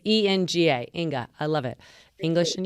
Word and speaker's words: Enga: Yeah, so it's ENGA, Inga.